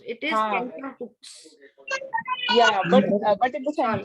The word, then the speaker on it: tenterhooks: We don't pronounce. It is tender hooks.